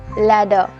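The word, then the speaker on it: ladder: কুইল্ড মই ল্যাডার ল্যাডার দেখো আর রয়েছে স্পেলিং এ বাট উচ্চারণ হবে না বলবো ল্যাডার ফুলদানি ফ্লাওয়ার ভাস ফ্লাওয়ার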